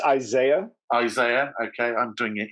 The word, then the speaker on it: Isaiah: And I'm pronouncing that correctly, aren't I? Close. It's Isaiah.